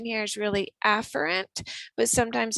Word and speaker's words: afferent: move in to the lymph node through the afferent vessel remember the correct pronunciation here is really afferent but sometimes it's hard to hear the difference